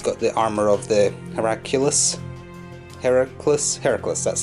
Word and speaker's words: Heracles: than that he's got the armour of the Heracles, that's how you pronounce it.